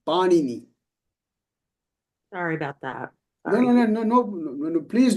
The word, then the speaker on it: Panini: So the word, we want to pronounce it as Panini. Okay, and I'll talk about that. Not Panini, Panini.